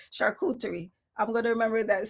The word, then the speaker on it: charcuterie: Charcuterie. Charcuterie. I'm going to remember that. See, and that's the thing. Like, that's exactly how it sounds, but that's not how they spell it. They have this fancy CHUR.